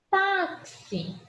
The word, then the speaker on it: táxi: Táxi. É uma paroxítona, certo? Se é uma paroxítona, coluna do meio.